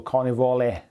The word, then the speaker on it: Carnivale: Fat fingers, E pronounced like in the word let, so Carnivale.